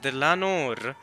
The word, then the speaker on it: Dlanor: She pronounced it Dlanor.